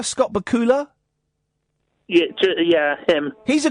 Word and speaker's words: Bakula: Scott Bula. Scott Bakula.